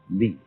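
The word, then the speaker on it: 理: wood, or the fiber in muscle, and it's pronounced li.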